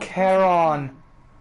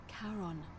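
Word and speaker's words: Charon: It's just as you described it, only your pronunciation is a little off. The name you heard Kon. It was C H A R O N. As in Karon, the fairyman of the dead.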